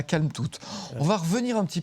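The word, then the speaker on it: Kalmthout: C'est Calme-toute. Calme-toute et on prononce bien le T à la fin. On n'oublie pas.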